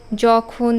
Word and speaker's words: যখন: বর্গীয় জ লিখবো কারণ আমরা যখন অন্তস্থ জয়ে শব্দটা উচ্চারণ করি যেমন যখন বা যদি এই জটা কিন্তু বর্গীয় জ এর উচ্চারণ কাজেই আমরা যখন উচ্চারণ